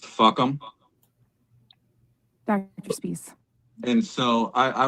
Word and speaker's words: FUCAM: And that acronym is FUCAM, which is pronounced fuck'em.